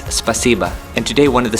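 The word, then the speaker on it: спасибо: If I pronounce this correctly, it's spasiba.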